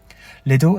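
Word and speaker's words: Liddell: in Oxford Henry George Lidle and Lorina Lidle Lidle is pronounced to rhyme with fiddle we know this thanks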